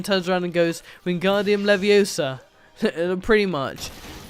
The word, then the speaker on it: Leviosa: in a minute yeah here we go wingardium leviosa leviosa vanguardium leviosa it's weird to pronounce it like that because that's what hermione